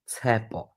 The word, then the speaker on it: Tshepo: My name, I'm going to try and say it as slow as I can, is Tshepo.